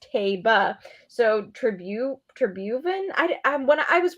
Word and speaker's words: Taiba: It's Taiba. So Tribhuvan. When I was watching the Manhattan and I heard the race caller pronounce it, and I was trying to make